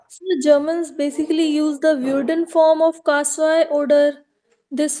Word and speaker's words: würde: Ich würde, as long as you pronounce this correctly. If you say wurde, it becomes passive preteritum.